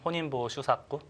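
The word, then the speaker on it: 本因坊秀策: 일본에 예전에 이제 19세기 말에 본인방 수책이라고 하죠. 네. 일본 단어 이제 일본 발음으로는 혼인보 슈사꾸.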